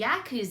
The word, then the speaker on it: Yakuza: What was Yakuza, or how do you say the... It's the Yakuza.